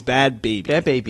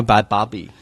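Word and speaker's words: Bhad Bhabie: a second b-h-a-baby it's bad baby that's how it's pronounced i call bad bobby it's not bad bobby like bobby hill from king of the hill it's uh baby like uh infant human being oh moving on great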